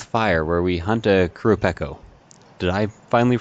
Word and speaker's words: Qurupeco: and playing with fire where we hunt a crew Peck oh did I finally pronounce that right yep thank God actually we're